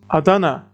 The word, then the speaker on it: Adana: Adana it's a noun in city names remember with three syllables we don't stress the last syllable if the two syllables are unchecked as in here with choose the second one Adana so da doesn't change